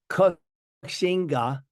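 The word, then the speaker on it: 国姓爺: His actual title, which the Dutch kind of mispronounced and called it Koxinga, which actually means Wo Xing Ye.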